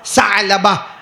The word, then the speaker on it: ثعلبہ: ثعلبہ، بیچ میں عین ہے نا، اس لیے میں عین نکال رہا ہوں. ثعلبہ. انگریزی میں آپ لکھو گے تو وہ عین کا تلفظ نہیں ہوگا، لیکن عربی زبان میں حضرت ثعلبہ.